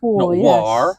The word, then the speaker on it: Warr: War I presume your name is pronounced it's War I was trying to